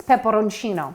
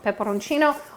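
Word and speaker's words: peperoncino: of some red crushed pepper in italian it's pepperoncino pepperoncino or some red crushed pepper throw that in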